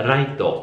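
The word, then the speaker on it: ライト: Per esempio, che ne so, la parola luce si dice light in inglese, in giapponese si pronuncia raito, però raito potrebbe quasi sembrare right, quindi destra, o anche giusto, right, capito?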